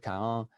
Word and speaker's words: Cahun: In French, it really should be pronounced Claude Cahun, but most people that I encounter pronounce it as Claude Cahun, and I'll do that as well.